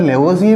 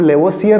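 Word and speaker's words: Lavoisier: इसके अंदर लेवोजिए में आर साइलेंट है, आर को नहीं बोला जाता, यानी कि हम लेवोसियर नहीं बोलेंगे, दैट इज साइलेंट।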